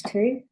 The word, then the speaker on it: two: Okay, so let's get rid of those two. Two, very easy. What's tricky about this is the O does not say O or R, it says ooh, ooh.